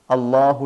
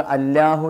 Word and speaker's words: الله: എപ്പോഴൊക്കെയാണ് അള്ളാഹു എന്ന് ഉച്ചരിക്കേണ്ടത്? എപ്പോഴും അള്ളാഹു എന്നല്ല ഉച്ചരിക്കുക. ചില സമയത്തൊക്കെ അല്ലാഹു എന്ന ഉച്ചാരണം വരും, സ്വരം വരും. ചില സമയത്ത് അള്ളാഹു എന്ന് വായ നിറയെ കനപ്പിച്ച് ഉച്ചരിക്കേണ്ടി വരും.